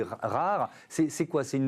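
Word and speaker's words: R4RE: Alors ça s'écrit R4 RE. Ça se dit rare.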